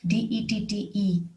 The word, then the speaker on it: debt: another example is the old french word debt d-e-t-t-e which evolved into the english word debt d-e-b-t